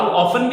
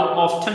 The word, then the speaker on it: often: अब एक American English का वर्ड है, एक मतलब प्रोनाउंसिएशन है, और एक जो है वो ब्रिटिश इंग्लिश की प्रोनाउंसिएशन है। सो हाउ ऑफन भी पढ़ सकते हैं और हाउ ऑफ्टन भी पढ़ सकते हैं।